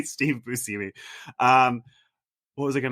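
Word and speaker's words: Steve Buscemi: a TV show with Steve Bushi and apparently we all have been saying his name wrong all this time and it's busimi and John was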